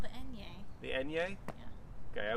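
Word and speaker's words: eñe: It's called the enye. The enye? Yeah. Okay, I was doing French. So sorry for mispronouncing your name.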